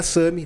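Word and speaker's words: SAMHI: SAMI se escreve S-A-M-H-I.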